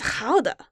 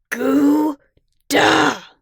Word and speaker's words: Gouda: been to the Netherlands it's how des as in how he paused for emphasis duh no goo duh I'm sorry plug but